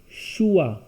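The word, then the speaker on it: choix: see h o IX CH is sure o is our X will be silent so it will be schewe which means choice more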